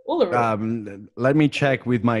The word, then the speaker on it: Uluru: Uluru? Uluru.